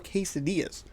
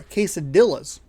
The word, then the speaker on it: quesadilla: i was getting uh chorizo quesadillas sorry quesadillas to pronounce it correctly so i went into